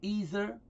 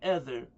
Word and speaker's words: ether: Some of you say ether, and I say ether to distinguish from the other word either, that's spelled with an E-I-T-H-E-R. This word I'm repeating is, where is it? E-T, the one I'm using here in this context is E-T-H-E-R, okay?